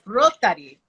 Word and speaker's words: Rotari: So for those of you just tuning in, today we're discussing Trentodoc, and I keep pronouncing it like it's Spanish, it's Rotari.